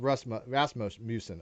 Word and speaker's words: Rasmussen: and I hope it's pronounced Rasmussen.